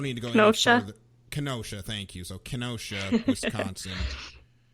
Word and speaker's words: Kenosha: I believe it's spelled Kenosha, but I don't need to go any further. Kenosha, thank you.